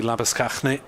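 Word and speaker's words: Lange: two for four yeah slabby shane rhymes with champagne was the uh the easier version that i was told although uh probably when he goes home to visit his relatives in south africa it would be lava no relation by the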